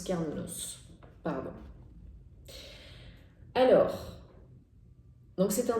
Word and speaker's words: Cernunnos: Alors on va regarder si Cernunnos a un message, sûrement, précis pour vous, pour nous. Oui, en plus on prononce Carnunos.